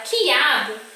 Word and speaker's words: quiabo: Quando eu falo a palavra quiabo, é como se eu estivesse falando assim, ó, quiabo. Eu não pronuncio o som do U.